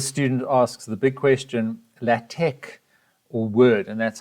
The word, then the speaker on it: LaTeX: the student asks the big question la tech or word and that's how you pronounce the tecla tech is a type of